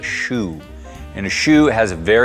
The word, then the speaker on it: choux: spelling here from Kentucky that's a chokes pastry but it's actually pronounced a shoe and a shoe has